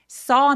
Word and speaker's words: saw: saw nothing. 여러분 이거 발음할 때 쏘 하면 꿰매다란는 뜻이 돼요. 봤다라고 할 때 C의 과거 동사죠. So 더 길게 어 하고 아의 애매한 사이 정도로 더 길게 발음해 주세요.